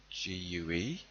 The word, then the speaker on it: gigue: Then we've got a jig, spelled with a G. So Gigue.